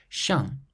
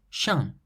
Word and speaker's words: chien: Chien, chien, means dog. So you have an E, which is a vowel, followed by the N at the end of the word.